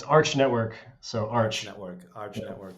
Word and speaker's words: Arch Network: bit more about you and about is it Arc or Arch how do I pronounce it it's it's Arch Network so Arch Network Arch Network great start um